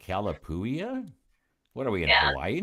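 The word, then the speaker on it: Calapooia: Oh, it's it's it's C A L A P O O I A. And I'm like, Calapouia.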